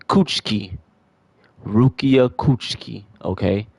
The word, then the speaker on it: Kuchiki: He's saying Rukia's name wrong. Rukia Coochi. Cuchki.